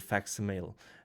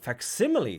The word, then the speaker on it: facsimile: it had been replaced with a rather crude fax mail fax mail how are you pronounced simile facsimile thank you strange words you Americans have I